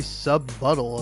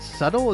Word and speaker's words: subtle: Not very subbuttle of you. Hey, you brought it up. Wait, what? What did you just say? Subbuttle. Did you think the word subtle is pronounced subbuttle?